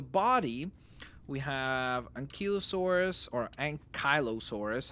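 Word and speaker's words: Ankylosaurus: For the body, we have Ankilosaurus or Ankyossaurus. I know some people say that it's Unkyo, it's not I. So, it's Unkyosaurus.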